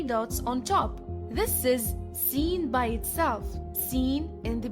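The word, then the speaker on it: سين: The next letters of the alphabet are Sin and Sheen. Sin is equivalent to the letter S.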